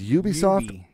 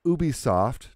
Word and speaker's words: Ubisoft: to pronounce it properly it's ubisoft or ubisoft depending on where you're from oh okay the company was originally going to be called ubiquitous software okay which if you speak French or I think Spanish